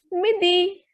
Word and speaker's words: midi: So the pronunciation will be midi.